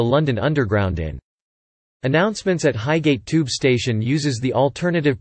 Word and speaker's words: Highgate: Announcements at Highgate Tube Station uses the alternative pronunciation of ht, where the final syllable matches the last syllable in frigate.